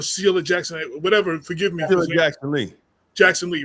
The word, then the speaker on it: Jackson Lee: Keef I saw that and um uh Congressman Sheila Lee Jackson Sheil Jackson Le did that say it right Sheila Lee Jack yeah so um yeah or Shea Jackson whatever forgive me Jackson Lee Jackson Lee right yeah yeah yeah another I